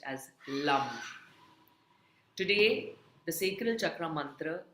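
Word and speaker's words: lam: for the root chakra which is lum spelled as l a m. In Sanskrit it is a l with a bindi on top of it and it is pronounced as lum.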